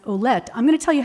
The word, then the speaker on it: Ouellette: His last name is spelled Ouellettte, that is the original spelling of Willett, which is my name. It came from Ouellette.